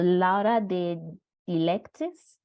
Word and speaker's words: Laura de Dilectis: Yes, so Laura de Dilectis. I hope I'm pronouncing it correctly. Yeah, it's right. That's right.